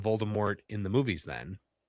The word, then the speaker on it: Voldemort: They don't put the T at the end.